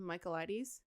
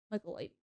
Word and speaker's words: Michaelides: Michaelides. Michaelides.